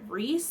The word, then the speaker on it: Reese: And so I watched a couple of videos and people were pronouncing it Reese, so I think that's how you say it.